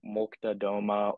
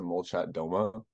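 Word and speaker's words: Молчат Дома: Looking at bands like Molchat, Doma or Depeche Mode or Depeche Mode, sorry.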